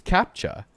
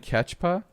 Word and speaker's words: captcha: screenshots of the captchas what were you calling them catches how do you say I think it's captcha captcha yeah you're saying catchpa I do not pass